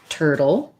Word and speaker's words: turtle: turtle and tortoise okay so for turtle we have an er vowel so even though i spell that with you are like in luxurious it's just the er sound and what we americans